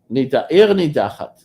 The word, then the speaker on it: Ir Nidachat: Ear nidachat.